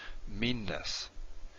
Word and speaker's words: meanness: you say it twice an example in english is the word meanness this is a double n right you got a word mean and then we have the ending ness meanness if we were to pronounce it without the double n it'd be something like meanest meanness versus meanest that they're really different